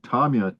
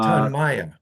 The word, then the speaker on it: Tonmya: Uh the um the uh leader of Tonics, which brought the drug Tomia to market. Uh Tanaya. Tanaya. Tan. The accent on the second syllable.